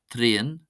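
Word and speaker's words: traein: The sequence AE or AEI is pronounced just like the letter A.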